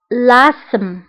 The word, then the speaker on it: asthme: الربو l'asthme لاسم أسم أو لاسم. فهنا TH لا تنطق نقول أسم لاسم داكور TH لا تنطق لاسم.